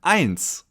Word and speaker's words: eins: In German, eins. Eins. As you can see, the letter E followed by the letter I in German is always pronounced I, as in eins, 1.